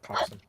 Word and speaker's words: coxswain: Coxswain is just how it's spelled, but it's pronounced coxswain.